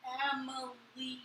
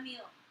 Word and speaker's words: Emilie: He's like, He always says my name wrong. It's Emily. not a meal. Not Emile. It's Emily. Spell it. Say it not. Say it right.